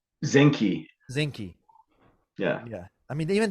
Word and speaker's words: Zinke: But Zinski, didn't you we said his see name? Zenki? Zinke.